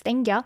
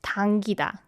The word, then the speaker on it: 당기다: Like certain, like for example, pizza 땡겨, or even we pronounce it as 땡겨. Yeah. But the correct way is 당기다.